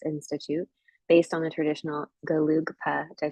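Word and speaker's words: Gelugpa: He completed the 8-year monastic sutra program through the Asian Classics Institute based on the traditional Galugpa.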